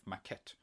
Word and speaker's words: maquette: hi everyone welcome to a short review of maquette a word which I had to look up on Google how to pronounce because neither French nor English is actually